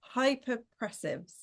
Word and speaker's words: Hypopressives: And she's going to be talking about something that I'm going to have to try really hard to pronounce. Correct me if I'm wrong here, Nikki. Hypopressives.